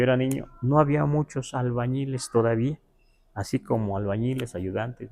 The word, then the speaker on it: albañil: así, amán no ti albanil. Así le dijo albanil porque no podía pronunciar albañil porque la ñe no existe en el now ninguna palabra tiene ñe.